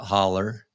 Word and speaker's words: hollow: a road called sweat holler they spelled it out hollow but pronounced it holler so uh i can